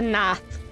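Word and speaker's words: Gnath: with Nath yeah the Nath live there even though you don't pronounce the G so eh we'll be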